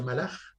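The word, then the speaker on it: מלאך: Ángel se pronuncia malach y rey se pronuncia melech.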